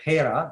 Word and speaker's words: Hera: mission called hera uh here is a uh or hera depending on how do you want to pronounce it hera is a a